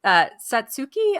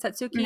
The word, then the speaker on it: Satsuki: But Satsuki, I believe is how you say it. Satsuki I and think May.